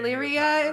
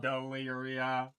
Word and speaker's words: Daelearia: Daelearia. Four whole syllables of what?